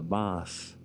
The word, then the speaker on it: Maas: The Meuse is the French pronunciation, and Maas is the Dutch pronunciation, and that flows north through through here where we are, through Dinant up into Namur.